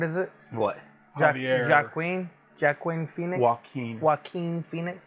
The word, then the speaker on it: Joaquin: Joaquin. Joaquin Phoenix. It's It's pronounced kind of like a Spanish.